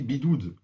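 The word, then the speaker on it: בידוד: Alors, vous savez, en résumé, ouais, en hébreu, le confinement, ça se dit bidoud.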